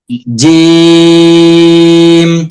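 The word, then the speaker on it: جيم: জিম, জিম কিছুটা মোবাইলে vibration থাকলে যেমন কাঁপে ওরকম কিছুটা হবে, ওরকমের কিছুটা হবে, আমরা খেয়াল রাখবো।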